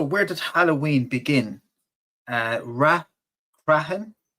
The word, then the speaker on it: Rathcroghan: Uh, Rahen versus Talica. They are, uh, that's me pronouncing as best I can, Oscar. And I made the big mistake of saying Rakroen before uh, for my video